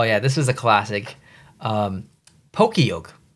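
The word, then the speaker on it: Pokiok: Pokeyoke. That's how I say it. All my friends say it. I don't know if you say it differently or, you know, pronounce it differently when you first saw that.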